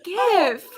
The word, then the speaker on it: GIF: It's GIF. No, the person who invented What? it You called said it a GIF. Soft G.